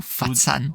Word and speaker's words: Foshan: Donc l'histoire, ça se concentre sur Ip Man, n'est-ce pas, à Foshan, sur plusieurs années. À Foshan ou Fatsan. Fatsan. Si on le prononce à la cantonaise. Fatsan, pardon.